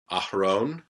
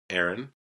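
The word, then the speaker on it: אהרן: So we pronounce it Abraham. The next one is Aharon. Aharon, Aaron.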